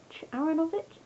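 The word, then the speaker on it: Aaronovitch: Number 3 is Foxglove Server by Ben Aronovich. Aronovich?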